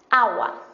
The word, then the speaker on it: agua: artículo masculino por ejemplo agua agua es una palabra femenina pero empieza por una a y esta a es tónica porque no decimos agua decimos agua la palabra la sílaba tónica es la primera es la si dijéramos